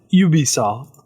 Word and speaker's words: Ubisoft: yeah that's why it's ubisoft but the french pronounce it you be solved oh we'll start talking